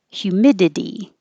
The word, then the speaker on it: humidity: of saying humid and humidity this i t y sounds like idi humidity it's not the